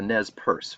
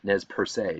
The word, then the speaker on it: Nez Perce: A similar fate befell the Nez Perce, or sometimes pronounced Nez Perce, depending on if there's an accent on the E or how French you're feeling.